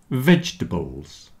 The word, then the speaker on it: vegetables: Comfortable, vegetables, and chocolate have lost their middle syllable, at least for most people. So comfortable, comf-t-able. You see the OR in the middle isn't sounding. Comfortable, vegetables, chocolate.